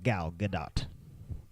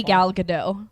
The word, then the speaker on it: Gal Gadot: know she's she's wonderful I think it's good not no it's definitely gal gadot yeah don't get me no t in there all right I've always heard people say gal gadot and it was the